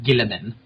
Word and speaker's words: Guilliman: His official pronunciation is Guilliman.